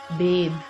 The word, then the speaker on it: bathe: अगर bathe के आखिर में e ना हो तो then it is a noun, B-A-T-H, और फिर इसको हम bath pronounce करते हैं. But if we have an E at the end, then it is a verb and then it is pronounced as bathe.